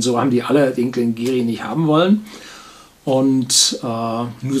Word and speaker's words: Glen Garioch: Und zwar den Glengarry mit 12 Jahren Alter. Achtung, schreibt sich Glengarioch, aber im Aberdeenshire Dialekt, dem alten gälischen Aberdeenshire Dialekt, spricht sich das Geary aus.